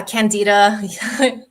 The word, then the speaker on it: Candida: Am I pronouncing that right? Yeah, Candida.